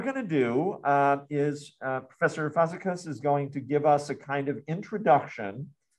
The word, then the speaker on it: Fazekas: Professor, is it Fazekas? Did I say it right? Actually, it's Fazekas, but I think it's almost for non-Hungarian natives.